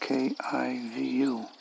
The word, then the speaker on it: Kivu: I think it's pronounced Kivu, Rwanda.